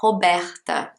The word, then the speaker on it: Robert: try our best here for the name robert so at the beginning robert so in british english the r in the middle is very small if you're speaking with